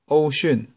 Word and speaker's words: Wouxun: But this one should be called Baofeng Wouxun.